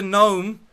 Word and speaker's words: gnome: get it because he's a gnome with a silent g and he comes up